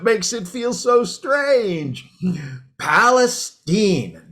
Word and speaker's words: Palestine: tonight doing great zeke but actually it's palestine oh well excuse me palestine so we're going with the hoity-toity pronunciation now are we well actually it's a good old texas pronunciation it's been that way for as long as i can remember well i see well